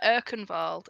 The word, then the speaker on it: Urkinwald: You are further father Urkinvald. Is it Urkinvald or Urkinwald? Urkinald. Yeah, it's it's spelled Urkinwald. It's spelled Urkinwald, but it's actually uh the W is pronounced with a V.